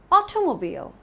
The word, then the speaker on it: automobile: The next word is automobile. Not automobile or automobile or automobile. The stress is on the first part.